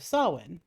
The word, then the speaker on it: Samhain: tradition originated with the ancient celts festival of sawin there you go i know i got it pronounced correctly this time when people would light